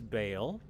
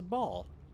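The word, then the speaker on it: Bhaal: Original pronunciation for the name is Bale. Now everyone says ball.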